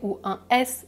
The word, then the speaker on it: tous: Remarquez aussi que dans la règle numéro 1 TOUT et TOUS se prononcent exactement de la même manière tout le programme tous les chats tout/tous je ne prononce pas le T ou le S donc s'il y a